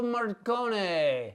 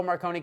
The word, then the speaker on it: Morricone: So music was by how you pronounce his name? Enrico Morricone.